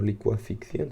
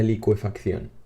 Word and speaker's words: licuefacción: de condensación sino que hablamos de licuefacción o licua ficción sin ver lo voy a verificar porque la pronunciación de la palabra que estoy estudiando licuefacción la licuefacción eso es vale por lo tanto